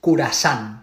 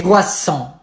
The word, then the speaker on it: croissant: Concentrate, please, and listen. It's croissant. I can't do that. Germany. Oh no, please, Germany, no. Protéjanse, parces. No. Estaba cerrado. Croissant.